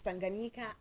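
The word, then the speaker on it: Tanganyika: what I was struggling with earlier on to pronounce but I'm going to do it now it's Tanga thank you Tanga yes tanganika and zambi so they had a merger and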